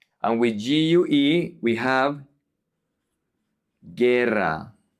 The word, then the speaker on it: guerra: And then we have the combinations GUI and GUE, where the U is silent, and we say ge, GUE, gi, GUI. For example, guitarra, guitarra, guitar. And with GUE, we have guerra, guerra, war, guerra.